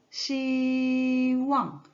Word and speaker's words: 希望: 그래서 일성과 사성 다시 만나서 어떻게 읽을까요? 시왕, 시왕, 시왕, 시왕. 네, 이렇게 읽어주면 됩니다.